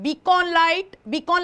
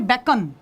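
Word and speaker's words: beacon: रखिए इसे बीकॉन light, Hindi actually इसका प्रोनाउंसिएशन है बेकन। क्या प्रोनाउंसिएशन है, बेकन, लेकिन हिंदी मीडियम आपको देगा बकायदा बीकॉन, तो आपको बेकॉन लाइट वैसे याद रखना है, ठीक है।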